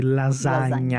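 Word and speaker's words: lasagna: é bem clássica né o GN né de lasanha lasha lasanha com GN que substitui mais ou menos o nosso NH não é exatamente o mesmo som mas é muito parecido e e também família família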